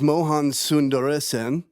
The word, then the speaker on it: Mohan Sundaresan: His name is Mohan Sundaresan. Did I pronounce that correctly?